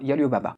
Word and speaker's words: Alibaba: Ça se prononce d'ailleurs en chinois Yalibaba.